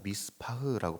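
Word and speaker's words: מִשְׂפָּח: 이걸 원어로 보니까 미스파흐라고 발음합니다.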